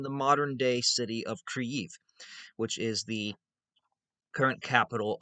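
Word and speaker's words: Kyiv: it's centered in the modern day city of creif which is the current capital of ukraine which i'm still trying to pronounce that word right i have gone i used to i used to say kiev because i owe kiev that's how i used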